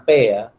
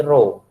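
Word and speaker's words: ρ: lihat di Segitiga ini Ini bacanya Rodja bukan peya ini roh ini abjad Hai Yunani Hai ini Rodja Rohini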